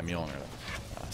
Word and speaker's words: Mjolnir: And it's yeah, Mjolnir. Sorry about that, my mispronunciation.